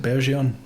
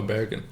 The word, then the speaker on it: Bergeon: How do you pronounce it? Bergeon? Oh, Bergen. Bergen. Yeah. Bergen.